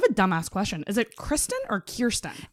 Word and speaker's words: Kirsten: Is it Kristen or Kirsten? It's Kier like an ear, even though. Kirsten. Yeah, it's Kirsten. Phonetically, it's Kirsten, but I'm a picky bitch.